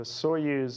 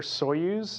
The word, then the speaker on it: Soyuz: some technical nuances so the Soyuz is the way we Americans say it it's God's I use and Russian like Sergei mentioned so if you ever hear so use it could be talking